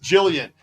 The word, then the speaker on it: Gillian: and raised in Vegas Jillian and that explains why your name spell with a G and pronounced with a J Vegas baby born and